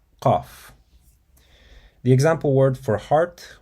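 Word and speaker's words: ق: near the uvula, and then you tighten your throat slightly to create a constricted sound. And then you release the sound with a crisp, strong burst, similar to K, but pronounced much deeper in the throat.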